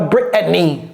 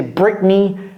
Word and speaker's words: Britney: parle de la chanteuse c'est quoi avaler le thé ça donne Britney Britney Britney et c'est exactement la même chose Britney exactement c'est pas Brittany Britany non c'est Britney et Britney Spears next qu ici lorsque